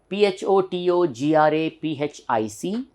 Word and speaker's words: photographic: comes from inside turning all right next one p-h-o-t-o-g-r-a-p-h-i-c generally we say photographic photographic in India we say photographic the real pronunciation is see there's a lower stress here